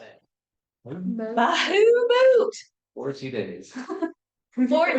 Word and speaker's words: Bahamut: Bahamut blessing. Bahamut. Yeah, that's how you say it. Bahamut.